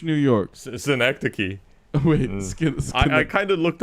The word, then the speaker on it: Synecdoche: Last of Us season 2 episode 2, and Skidosh, New York. Synecdoche. Wait, I kind of looked up how to pronounce it.